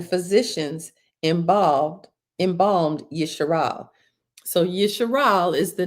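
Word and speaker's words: Yisharal: So Yeshal is the name that the father gave to YaKob son named Jacob, not Israel. It's Yeshal.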